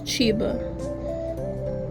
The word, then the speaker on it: Chiba: This is Chiba. Like Chiba Huts, but it's spelled with an I because it's cuter.